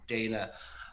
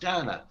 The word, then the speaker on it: Dana: you use obviously is dana um but growing up in ireland as i did um it's pronounced danna in ireland and um we have